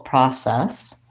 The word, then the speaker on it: process: American English that we for the letter O will say an ah sound so I actually say Pro this first syllable stress so we have a long syllable process process process I think